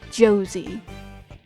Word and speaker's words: Jose: just realized I know his name in the game is pronounced Josie I know but I've